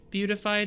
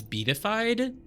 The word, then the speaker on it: beatified: That must be like, I was gonna say beautified, but like it's not beautified, it's beatified.